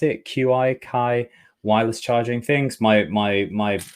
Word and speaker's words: Qi: but it's got the the ties out you pronounce it Qi Chi wireless charging things my my air pods and